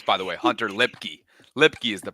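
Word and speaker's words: Luepke: Turpin that's tremendous by the way Hunter lipy lipy is the pronunciation but is there anybody that's doing more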